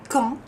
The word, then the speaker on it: quand: Peut remplacer une phrase avec quand, como ven la D, acuérdense, no se pronuncia, quand tu arriveras, cuando